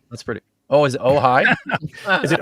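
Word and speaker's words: Ojai: church of OJ is that really how it's pronounced OJ in California ohigh that's pretty oh is it ohigh is it OJ AI yeah that's yeah that's oh Eric actually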